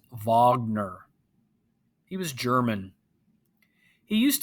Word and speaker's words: Wagner: called richard wagner now it looks like it's pronounced wagner but it's actually pronounced wagner he was german he used to listen to